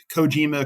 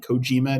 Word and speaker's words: Kojima: kicking themselves that too coima coima how there's a wrestling name Satoshi Kojima New Japan Pro Wrestling he pronounces I think pronoun his name coima not coim so I go B